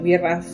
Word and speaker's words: BRAF: Se escribe B larga RAF, BRAF.